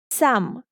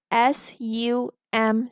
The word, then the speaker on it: some: For example, if we write the word some, to write some, we write SOME, which according to the phonics rule should be pronounced as som. However, we read it as SUM, some.